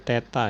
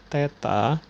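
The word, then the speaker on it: θ: gunakan itu bisa menggunakan tanda seperti ini ini dibacanya Teta ya dibaca Teta boleh juga kita menggunakan lambang seperti ini Ini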